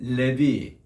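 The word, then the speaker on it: לוי: 이건 하나님이 들으셨다 뜻이고, 세 번째는 레위. 이제 우리는 레위라고 이제 발음하잖아요. 그게 그대로 히브리 발음입니다.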